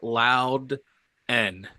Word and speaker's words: Loudon: Loudon. It's pronounced Loud N.